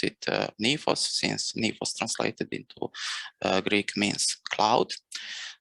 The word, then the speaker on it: NI4OS: We pronounce it NI4OS, since NI4OS translated into Greek means cloud.